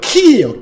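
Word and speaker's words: χ: 그리스어로는 키예요. 키. 크 발음 나는 글자예요.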